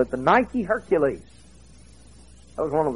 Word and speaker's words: Nike: to him that overcomes the word overcome in the greek language is nikkei we use it today we pronounce it nike we've got a whole line of athletic wear you know it just means conquer in greek boy where are these